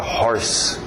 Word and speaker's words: hoarse: Curiosamente usa horse, só uma dica extra, outra escrita, mas a mesma pronúncia, horse para rouco. Quem está rouco está hoarse. Sim, faz brincadeiras, trocadilhos nas palavras parecidas, mas é escrito de outro jeito.